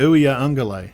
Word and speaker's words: Uiagalelei: How do you pronounce his name? DJ Uiagalelei.